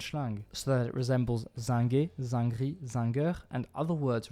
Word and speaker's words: zinc: I do realise that a lot of people pronounce this word zank, basically as zank, everywhere I go except physics teachers, so maybe this is a word that's going to be majority pronounced zang in the future, but like for now,